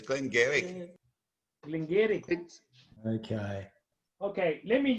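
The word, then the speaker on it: Glen Garioch: No, Jose, you know it's pronounced Glengarry.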